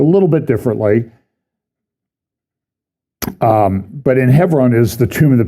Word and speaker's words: Hebron: Hebron, I call it, I try to say Hebron because my Jewish friends say, oh, it's so wonderful to have somebody say it correctly.